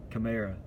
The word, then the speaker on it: Kamara: And then there's Alvin Kamara, or Karama. Like, his name is pronounced weird. It's not how it's spelled. Kamara. Yeah, it's Kamara.